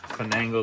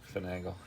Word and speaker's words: finagle: in here so I'm gonna finangle this in or is it finagle how do you say it Jay finagle so my double wrench